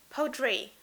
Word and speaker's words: Poudre: Sander line, is Simply Powder. Am I saying it correctly? Yeah, Poudre. Poudre? So powder, basically, if you say it in English.